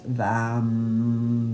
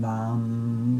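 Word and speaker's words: वं: And the one syllable Sanskrit mantra is vam vam with a v.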